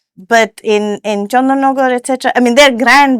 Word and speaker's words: Chandannagar: Chandannagar or was it Chandannagore? Well, I am half Bengali, so I'm pronouncing it Chandannagar, but, you know, uh